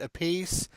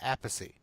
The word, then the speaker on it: Appice: See, but now I've heard one of the brothers Carmen actually pronounces it a piece, and Vinny pronounces it Appice.